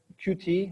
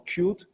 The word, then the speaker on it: Qt: And the reason for that is that this framework, it's called Qt or Qt, depending how you pronounce it, is a cross-platform framework which works everywhere, and they try to emulate the native behavior of every system.